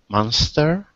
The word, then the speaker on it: monster: It's another case of where the O, it sounds like an A sound, like in the words doll.